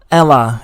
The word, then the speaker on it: Ella: i always keep saying your name wrong i don't know why i'm so sorry is it is it eli or ella ella it's ella 94 right yeah i love